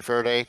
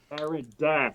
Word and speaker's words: Faraday: So, in answer to your question, Faraday, normal? Eh? There is perspective. It's just, it's us. I just So, love the fact that you guys persistently mispronounce her name. Duh. Faraday, not Faraday.